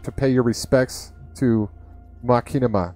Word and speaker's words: Machinima: Machinima? Machinima. Machinima. I'm going to stick with that. That sounds like the best way to pronounce it. It's like, it's supposed to be a play on, like, machines and cinema.